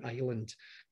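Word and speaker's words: Islay: on the west coast there that little blue island um apologies to anybody who has named their child that and then has uh pronounced the name differently in scots it's isla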